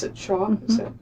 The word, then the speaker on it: Schauf: Do you pronounce it Schauf?